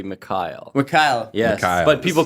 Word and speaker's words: Mikhail: Although it reads like Mikhail, it's actually Mikhail.